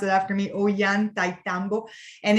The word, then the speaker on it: Ollantaytambo: So if you want to pronounce it after me, Ollantaytambo.